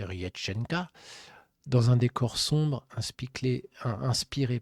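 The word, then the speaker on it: Реченька: Puis arrive l'une des prestations les plus marquantes de sa carrière et Renchenka que l'on pour prononcer Riéchenka dans un décor sombre inspiré pardon du folklore russe Diana transforme cette chanson traditionnelle en une véritable incantation.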